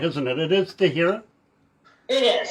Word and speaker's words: de Herrera: It is de Herrera? It is. Some people pronounce it de Herrera, but it's also pronounced the way you're saying it, so no problem.